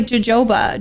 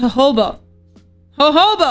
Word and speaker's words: jojoba: think it was like jojoba Jo jojoba Jehovah isn't it Jehova hoba it's pronounced hoba hoba oil there we go